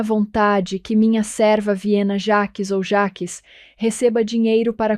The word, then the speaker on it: Jaques: Stephanie Corsby ou Viena Jackes, como diriam os americanos. Mas Jaques é a pronúncia francesa.